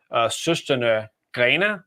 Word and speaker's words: Søstrene Grene: So there's a craft and decor retailer called Søstrene Grene. That's the Danish pronunciation.